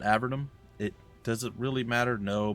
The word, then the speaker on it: Avernum: yeah by the way i've been mispronouncing avernum for a long time including the start of this i don't know why i know how to pronounce it now and for whatever reason my poor warped melted little brain decided that no no we're not going to deal we're going to go sorcerer it's a vernum not avernum it doesn't